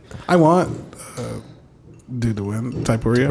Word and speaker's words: Poirier: Poirier. How do you say? Yeah, Poirier.